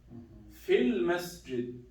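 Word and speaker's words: في المسجد: Same thing here. Sounds like fil masjid. Fil masjid.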